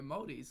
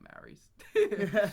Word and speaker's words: Māori: That's how you pronounce it, is like a Māori piece of bread. And so we're Māoris, we're not Maoris.